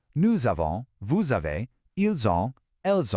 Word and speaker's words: nous avons: We already saw the je becoming je, but more importantly, that liaison is back, making that same Z sound. Listen really closely. Nous avons, vous avez, ils ont.